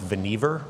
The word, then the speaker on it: Vannevar: One is his name was actually pronounced Vannevar.